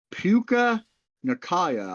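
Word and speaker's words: Puka Nacua: want to make sure I try to pronounce this right okay he plays for the Rams yeah puka Nakaya I believe how you say his name yep p-u-k-a-n-a-c-u-a uh a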